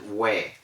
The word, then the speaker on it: where: the correct pronunciation is where so they were in your house yesterday we were there we were here yesterday so w-e-r-e has the same pronunciation as w-h-e-r-e where are you going